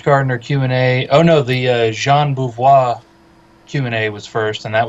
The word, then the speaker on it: Jean Beauvoir: Learned that I've been saying his name wrong, because I sure thought it was Jean Bouvier.